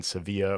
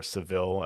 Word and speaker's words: Sevilla: So, it was nice to be able to just enjoy the enjoy the company of our friends there in in Sevilla or Seville as we pronounce it.